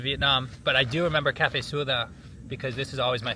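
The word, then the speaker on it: cà phê sữa đá: In Vietnamese, you say cafe suda. Cafe suda. Cafe. They spell it c a p h e, but like cafe coffee.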